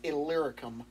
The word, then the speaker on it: Illyricum: the way around to, I mispronounced this earlier, it's Illyricum, is how you say it. From Jerusalem all the way around to Illyricum, I have fulfilled the ministry of the gospel of Christ.